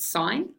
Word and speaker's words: sin: s i n so we just dropped the E off but we still pronounce it sign so s of the